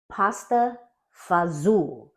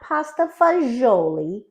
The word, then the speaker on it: pasta fagioli: pasta fazool that's right pasta fazool not pasta fagioli I don't know anyone in my family or the neighborhood I grew up in who says pasta fagioli which is macaroni and beans so say it like an Italian from the East Coast but and it is